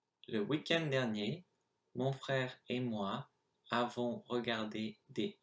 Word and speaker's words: avons: And of course, I said avons when actually you don't pronounce the S, it's just avons.